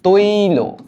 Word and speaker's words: তৈল: এটার উচ্চারণটা দাঁড়ায় এমন, দেখো, তৈল। হ্যাঁ, সরি, এক মিনিট, তৈ লো।